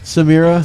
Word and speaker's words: Samira: i'm used to it i say like say mirror same error but you say it with your accent that's what i say it's a mirror uh shout out to